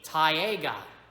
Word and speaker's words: taiga: For you see, the next time we are going to be discussing the taiga. The taiga. Taiga. Sounds like the word tiger.